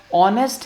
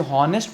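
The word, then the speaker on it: honest: अब यहाँ पे भी हमारे पास ऑनेस्ट है, बेसिकली हम इसे हॉनेस्ट पढ़ते हैं, लेकिन ये एच बेसिकली क्या है, साइलेंट है। तो जब एच साइलेंट है तो ओ से स्टार्ट हो रहा है, तो इसका मतलब एन ऑनेस्ट, तो ओ का साउंड आ रहा है तो हम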